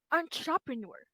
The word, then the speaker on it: entrepreneur: So, the word right here in number 1 is pronounced as entrepreneur.